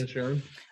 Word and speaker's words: Inisherin: That's how it's pronounced. Inisherin.